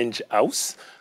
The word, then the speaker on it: Enghouse: relation client est d'ailleurs voulait bien prononcés ont dit à angie house comme house parce que c'est un génie house d'accès une maison des ingénieurs qui développe beaucoup de